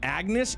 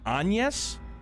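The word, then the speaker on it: Agnès: boogie down also NE it's not Agnes it's French so it's pronounced anes an yes my bad all right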